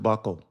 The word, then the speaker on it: buccal: in the States a Buccal massage, Buccal, Buccal massage. And I have to tell you, I believe it's pronounced buckle, but buckle.